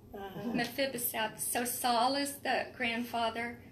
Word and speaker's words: Mephibosheth: and Michael told me how to say this, Mephibosheth. Uh-huh. Mephibosheth.